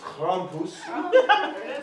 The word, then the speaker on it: Krampus: Well, it's pronounced Krampus.